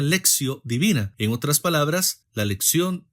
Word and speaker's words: lectio divina: como la lexio divina se escribe lectio divina en latín pero se pronuncia lexio divina En otras palabras la